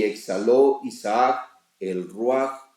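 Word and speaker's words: רוח: O sea que El texto, la palabra espíritu en hebreo realmente diría es ruaj. Y exhaló Isaac el ruaj, o sea, el espíritu, y murió.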